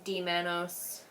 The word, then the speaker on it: D-mannose: I see D-Manos. Yeah, UTIs are a frickin' nightmare. I definitely recommend the D-Manos. It's spelled like D-MANNOSE.